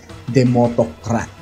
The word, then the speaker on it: DemosAutocrat: kaya nabuo ang salitang demotocrat. Wow! So ganyan po talaga ang spelling niyan. Meron po talagang S yan pero silent S. Kaya ang pronunciation po niyan ay demotocrat or demotocracy.